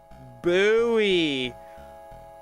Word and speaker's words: buoy: It's buoy. God damn it, dude. Why didn't they spell it like that then? These sons of bitches. Is there any word that ends with a U-O-Y that has this sound?